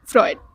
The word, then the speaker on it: Freud: Freud.